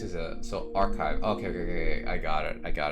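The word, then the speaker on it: arXiv: what a mood archive is that how you pronounce the website oh okay the x is a so archive okay okay okay I got it I got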